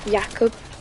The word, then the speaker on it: Jakob: It's spelled, but he's like Polish, and it's said Jakob.